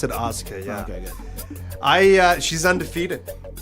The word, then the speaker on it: Asuka: They pronounce it Asuka.